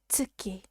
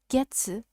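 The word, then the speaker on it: 月: The moon is called tsuki. Tsuki. Tsuki. Moving on to its onyomi, its Chinese reading, we can see that we can find two of them. The first one is pronounced getsu, getsu, getsu, and the second one is pronounced gatsu, gatsu, gatsu.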